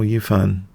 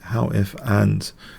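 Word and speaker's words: Hou Yifan: I recently learned how to pronounce how Yufan, not Yufan who, but actually how if and is how I remember it.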